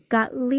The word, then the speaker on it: Gottlieb: I'm gonna mess up her last name pronunciation. Gottlieb.